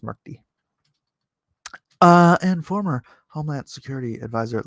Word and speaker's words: Murthy: It's actually pronounced Murthy.